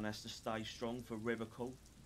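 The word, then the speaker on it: Revachol: to stay strong for river coal river call you pronounce it that was river shawl um his gaze shifts to the pile of soggy logs at this oh yeah yeah he pronounces rivershaw with a hurricane like other people yeah see like i picked that up too the river call i like to pronounce it the hard way the old way the oh [ __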